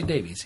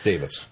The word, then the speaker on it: Davies: the times we say Davies yeah so Russell always thought it was Davies so have I it's Davis Russell T Davis you guys Russell T